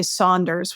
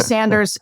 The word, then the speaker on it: Sanders: And Bernie Sanders, you say Saunders, which I'm sure he'd enjoy that pronunciation. Bernie Sanders, he's been pushing this